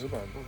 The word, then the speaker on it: rhubarb: I think the H in that word is totally unnecessary.